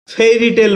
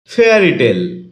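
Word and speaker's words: fairy tale: ফেয়ারি টেল এটাকে আমরা ফেরি টেল বলে থাকি যার সঠিক উচ্চারণ হচ্ছে ফেয়ারি টেল শব্দটি বাক্যে নাউন হিসেবে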